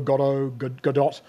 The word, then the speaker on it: Godot: look at and increasingly starting to use called Godot Gadot depending on how you pronounce it uh it's obviously named after the